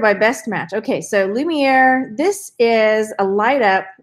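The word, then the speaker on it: Lumière: This one's from Beauty and the Beast, and this is Lumiere. He is the candlestick. So there are people that live, okay, and if I say his name wrong, it's Lumiere, right?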